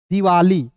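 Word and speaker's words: Diwali: होता है दोस्तों ली, तो क्या हो जाएगा दिवाली, ठीक है।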